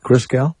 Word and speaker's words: Christgau: Christgau, am I saying it right? Christgau? Yeah, that's it. Like Christ and then G-A-U.